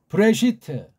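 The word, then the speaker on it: בראשית: 된장 깍두기 김치 식으로 브레시트 브레시트 브레시트 브 레 으 쉬 트 한개 한개 그렇게 발음해요 이게 지금 하나하나가 다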